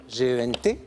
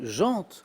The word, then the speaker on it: gent: qu'on entend souvent prononcer jante, la jante féminine. Mais en fait, la prononciation parfaite, c'est, on ne prononce pas le T.